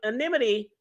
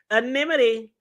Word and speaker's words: anonymity: So people are like, how's the government going to promise the witnesses an animity? Oh, y'all do y'all see I said it right. Anonymity.